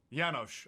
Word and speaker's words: Janosh: Janosh. Okay, good. I didn't want to make an assumption. He's like, dude, there's a J there. Say the J.